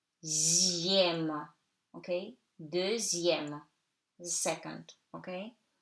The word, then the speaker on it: deuxième: In numbers, X before I-E-M, M accent grave, it's pronounced like Z. So, de, E-U like E, zième, okay? Deuxième, the second, okay?